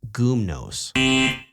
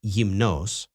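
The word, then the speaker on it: γυμνός: Even though the accent mark is over the last ultimate syllable, the adjective naked is not pronounced gumnos. Greeks pronounce it like yimnos and in addict Greek it may have sounded like gumnos but not gumnos.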